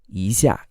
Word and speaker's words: 一下: change rules in Chinese this is actually pronounced as a second tone plus a fourth tone so it's not easier when you actually say it it's pronounced as easier easier easier like a